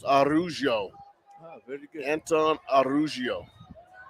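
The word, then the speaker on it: Araujo: Anton Ruggiero. 2nd and 12 for the Irish. And that name is spelled A-R-A-U-J-O, so it's Arugio.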